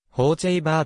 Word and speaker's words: Hochevar: 野球選手右投右打発音指示によると方ちぇええバーと読むのがより近い 2002 年の mlb